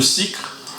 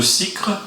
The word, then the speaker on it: Sicre: Je vais vous interpréter une chanson de Francis Cabrel qui s'appelle un morceau de cycre. Alors, ce n'est pas une erreur, je prononce bien, c'est bien un morceau de cycre.